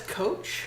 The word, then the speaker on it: Koch: I think that's Coach. Coach. Okay, fine, Coach. Usually, if there's an H afterwards, you don't just pronounce Okay.